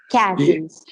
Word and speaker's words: chasm: the Char the chasms no chasms chasms the H is silent okay the Tulip and